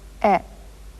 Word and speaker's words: へ: But in sentences, it does double duty and also serves to represent the particle e.